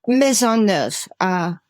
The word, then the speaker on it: Maisonneuve: How is that pronounced? Maisonneuve, new house, basically in French.